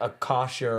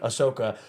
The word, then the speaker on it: Ahsoka: But I hear like Akasha, I'm getting the name wrong. Ahsoka.